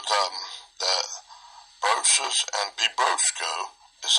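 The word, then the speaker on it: βιβρώσκω: Bibrosco. I think that's the verb form of it. That's how we pronounce it. Strong's G 977. Bibrosco. Bibrosco. Bibrosco. Like my big brosco.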